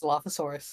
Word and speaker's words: Dilophosaurus: part stegosaurus and dilfosaur I forget how it's pronounced Dilophosaurus Dilophosaurus thank you D the D um and